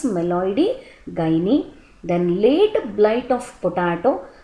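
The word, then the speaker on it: Meloidogyne: by meloid gy species the pronunciation is meloi gy then late blight of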